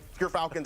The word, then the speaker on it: Gerfalcons: We actually, off screen, we're figuring out how it's pronounced. But Gerfalcons, everyone, so anyone who mispronounces it, that's how you say it.